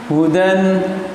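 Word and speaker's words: هُدًى: Hudan dibaca huda.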